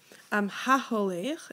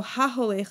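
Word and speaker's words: הַהוֹלֵךְ: So HaHolech is my participle. I have my O sound in the middle between my He and my Lamed, right? It rhymes with Shomer.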